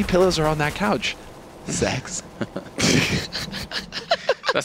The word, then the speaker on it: sex: Because in Sweden, guys, the number 6, rather, not the letter, is pronounced sex, which leads to a lot of fun jokes.